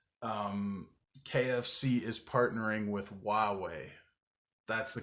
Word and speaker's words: Huawei: Um, KFC is partnering with Huawei.